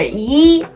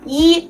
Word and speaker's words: 一: However, if 一 is followed by a syllable in the fourth tone, it changes to the second tone, as in 一定, which means sure or certainly.